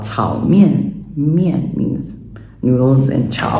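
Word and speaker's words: 炒面: I think that is like the maybe Cantonese pronunciation for, in Mandarin, what would be called chao mian.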